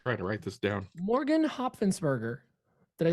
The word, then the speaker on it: Hopfensberger: It's Hop Fence Burger. That's the way I was able to pronounce it, because otherwise I was going to butcher it.